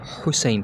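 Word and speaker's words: حسين: इसलिए हम हुसैन को, जैसे हुसैन किसी का नाम है तो इसको अरब वाले हुसैन पढ़ते हैं, यानी वो स्ट्रेस देते हैं अपने मिडिल थ्रोट पर।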